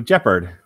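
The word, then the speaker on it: Jepperd: So Jeppard, which rhymes with leopard.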